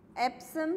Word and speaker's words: Epsom: ठीक है, सिनोनिम लिखो नीचे लाइन में, सिनोनिम के सामने एरो बना के लिखना है एप्सम सॉल्ट। एप्सम की स्पेलिंग है EPSOM, एप्सम सॉल्ट।